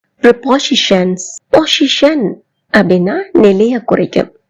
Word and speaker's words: preposition: good all ரபோசிஷன்ஸ் பொசிஷன் அப்படின்னா நிலையை குறிக்கும் ரீ அப்படின்னா முன்னெஎன்னும் அர்த்தம் கொண்டது இவை இரண்டையும் சேர்த்து நாம் ஒரு சொல்லாக ரபோசிஷன் என்றவாறுதான் உச்சரிக்க வேண்டும் ரிபோசிஷன் அப்படின்னு சொல்ல கூடாது எப்படி சொல்ல வேண்டும் வெரி